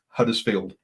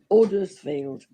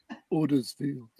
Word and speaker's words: Huddersfield: you how to say huddersfield don't say huddersfield or huddersfield it's odersfield ordersfield now that sounds really stupid